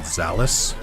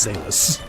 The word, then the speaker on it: Zalis: we do doing here they made the classic blunder of pronouncing it zalis which I get that's how it's phonetically spelled so like I don't blame anyone for it but like come on come on it's zus anyone else have a last